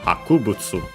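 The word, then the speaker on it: 博物: This one, the accent is on the ku, even. So, Hakubutsu. Can be, well, the original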